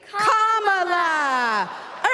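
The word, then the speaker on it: Kamala: do you pronounce it first you say comma like a common sentence then you say la like la la la la la put it together and it's one 2 three comma all right so let's practice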